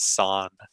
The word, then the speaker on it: san: This is San.